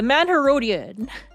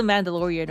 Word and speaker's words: Mandalorian: The Manherodian. I know it is whatever it is. I know it's the Mandalorian, okay? I was mispronouncing it intentionally.